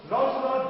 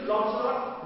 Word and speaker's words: Lancelot: Lancelot Gobbo, son of old Gobbo. His pronunciation is Lancelot, not Lancelot. Lancelot.